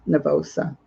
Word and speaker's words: nervosa: called anorexia and nervosa i don't know how to pronounce that last word it is nervosa i'm going to read